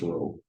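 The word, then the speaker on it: rho: parameter is row right it looks like a p but it's pronounced row right so long story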